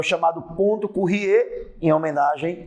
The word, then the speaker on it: Curie: Quando você aquece o ímã a uma determinada temperatura, que é o chamado ponto Curie, em homenagem à física francesa Marie Curie, ou Curie, como você queira pronunciar. Por exemplo, o ferro, 770